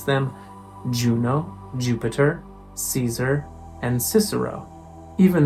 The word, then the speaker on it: Juno: Or this name, the Roman name for Hera, Juno, not Iuno.